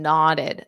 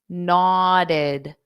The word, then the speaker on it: nodded: So the woman nodded. Notice that pronunciation of the ED. What do you notice? There are 2 sounds. nodded, nodded. So this ed adds an extra syllable.